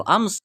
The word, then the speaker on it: alms: क्या कहता था जाके, प्लीज, प्लीज कृपया, गिव मी आर्म्स, मुझे आर्म्स दे दो, आर्म्स ALMS, एल का प्रोनाउंसिएशन नहीं होता है, आर्म्स कहा जाता है।